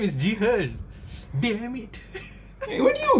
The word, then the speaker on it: Jihan: My name is Ji-hen.